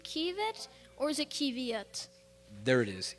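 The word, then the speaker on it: qiviut: Is this pronounced kievit or is it kiviet? There it is, kievit.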